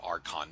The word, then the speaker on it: arch: the word Arc or the word Arch that's pronounced like Arc before for Angel some